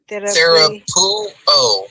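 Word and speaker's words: θεραπεύω: You remember your rule: one vowel or diphthong per syllable. So it's therapuo. Pure. Pure. The word you. The word epsilon. The epsilon and the upsilon make a diphthong sound. So that's Epsilon. you. Pew, and then O.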